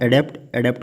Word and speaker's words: adept: और डी और जो ये वाला ऑप्शन है एडेप्ट का मीनिंग होता है कौशल या निपुण, टैलेंटेड या स्किल्ड, तो इसको बोलते हैं एडिप्ट।